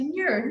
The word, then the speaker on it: Muir: Muir, yeah.